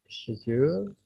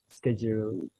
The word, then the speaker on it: schedule: So this one has schedule or schedule. It depends on whether it is the British pronunciation or the American pronunciation.